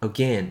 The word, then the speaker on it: again: again 삼음절보다는 again 이렇게 이건 뭐야? 이음절로 하는 게 조금 더 이쁩니다.